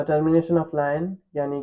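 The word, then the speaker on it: lien: 47 sellers लायन लयन हाउ कैन we pronounce a लियन wait pronounce wait let me check लाइन लाइन एल आई एन लाइन okay so sellers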